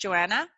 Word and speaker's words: Johannah: Johannah, it is pronounced Johannah. It's spelled a little different, so it's just Johannah.